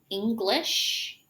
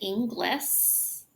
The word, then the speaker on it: English: So, commonly mispronounced, as I was telling you, English and Inglis. And then we also have fish and fis. And then kish and kiss.